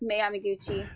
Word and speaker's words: Mei Yamaguchi: Was it against Mei Yamaguchi? Was that it? Or am I mispronouncing that? Yes, Mei Yamaguchi.